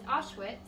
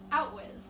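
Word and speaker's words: Auschwitz: it in the text Bruno pronounces Ashe wits out was which can be confusing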